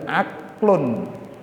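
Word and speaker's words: عقل: Ada dalil aklun, ain, qaf, lam. Apa bacanya? Aklun.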